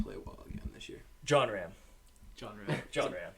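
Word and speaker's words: Jon Rahm: John Ram. John Ram. John Ram. It's actually pronounced John Rahm.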